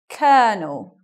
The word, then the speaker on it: colonel: and stuff like that so what about this word this is a this is a rank in the military or the army : or no it's not : or it's a so even though it's although here it becomes a colonel Colonel sounds very different maybe to what you expect it to be moving on this